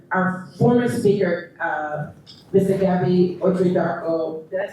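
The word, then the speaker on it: Otchere-Darko: Gabby Otridarko, did I say his name right? Gabby Otridarko, thank you.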